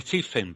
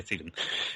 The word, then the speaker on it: Stephen: Que todo le decía Stephen, pero es Steven, ¿vale? Se pronuncia Steven, ¿vale?